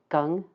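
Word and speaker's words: 庚: And these are pronounced jia, yi, bing, ding, and I'll try to be very careful with those two because they're very close together in pronunciation. Wu, ji, geng, xin, ren, and kui.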